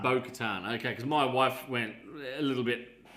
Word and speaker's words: Bo-Katan: Is that how you pronounce it? Bo-Katan. Bo-Katan.